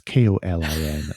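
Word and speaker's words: Kolín: at Kolin in the Czech Republic, and that's Kolin, not. Yeah, you have to spell that out.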